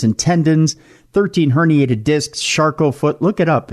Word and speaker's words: Charcot: I've torn ligaments and tendons, 13 herniated discs, Charcot foot. Look it up. It's very French and very rare. It's spelled char as in charcoal, and cot, like a thing you lay on.